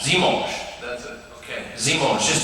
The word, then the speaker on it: dimanche: Dimanche. Dimanche.